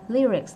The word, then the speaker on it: lyrics: Rồi, lyrics là đúng luôn nha. Có một cách đọc duy nhất, anh Mỹ anh cũng vậy.